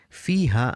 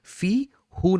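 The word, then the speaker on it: فيه: ইয়াসুকুন থাকে অথবা কাসরা সহ কোন লেটার থাকে তখন এটা হু না হয়ে হি হয় ফি হু না বলে আমরা কিন্তু বাইতুহু বলি কিন্তু ফি হু না বলে ফি হি বলি এটা আরবদের একটা প্রোনাউন্সিয়েশন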